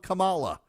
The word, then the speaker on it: Kamala: but not Donald Trump who says Cala like a lot of people say Kamala because when you look at her name it's spelled k a m a l a m